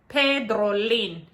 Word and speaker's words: Pedrolin: to pronounce my name so my name is spelled with with a p e d r o l i m pedrolin where you normally used to put it a